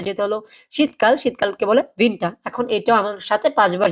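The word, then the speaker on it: Winter: উইন্টার না উইন্টার ওকে যদি আমরা উইন্টার বলি তাহলেটা ইংরেজির উইন্টার হয়ে যাবে হ্যা সেটা কিন্তু জারমানে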